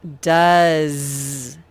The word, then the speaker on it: does: another tricky sight word this one says does so tricky because the o doesn't even say ah or o it says uh then there's a silent e that doesn't even do anything and then the s it makes the z sound it spells z so it really is